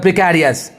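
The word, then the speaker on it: precarious: क्योंकि देखिए प्रिकेरियस ने ज़्यादातर आदमी इसका उच्चारण करता है प्रिकैरियस, लेकिन एग्जैक्ट ये क्या है? प्रिकेरियस.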